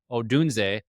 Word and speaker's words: Odunze: They took Caleb Williams and Odunze. Yes, I learned how to pronounce that too since our last video.